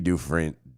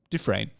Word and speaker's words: Dufresne: yeah man so when andy dufren do do fresney dufresne yeah it's different it's it's pronounced different okay when andy dufreyne